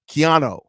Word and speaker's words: Keanu: Keanu says, yo, Haize, I didn't tell you last time, but my name is pronounced Keanu Reeves, but with an O. Keanu.